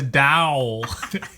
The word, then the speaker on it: dowel: It rhymes with vowel. Wow. No, it's not a wow. It's a dowel.